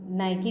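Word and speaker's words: Nike: For example, हम लोग देख लेते हैं, एक कंपनी है जिसको हम नाइकी भी प्रोनाउंसिएट कर सकते हैं या फिर कुछ लोग नाइक बोलते हैं, और नाइकी अमेरिकन एसेंट में बोला जाता है।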